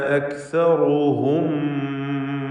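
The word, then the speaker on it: أَكْثَرُهُمْ: വമാ കാന അക്സറുഹും മുഅ്മിനീൻ. അക്സറുഹും നേരത്തെ തായിൻ്റെ ഉച്ചാരണം പറഞ്ഞതുപോലെ കാഫിനും ഹംസാണ്. അക് അക് എന്ന് ഉച്ചരിക്കണം. അക് എന്ന് ശബ്ദം ഹറക്കത്ത് പോലെ ചലിപ്പിക്കരുത്. അക്സറുഹും റാഇന് തഫ്ഖീം കൊടുക്കുക.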